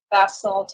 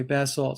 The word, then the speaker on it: basalt: i pronounce that right right in america basalt in england okay basil so they made sure